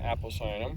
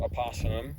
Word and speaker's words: Apocynum: And in Iowa, we have three of these species, three species in Apocynum, or Apocynum. It could be pronounced that way as well.